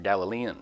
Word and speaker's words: Galilean: If you are from Galilee, you are a Galilean, or Galilean, depending on how you like to pronounce it.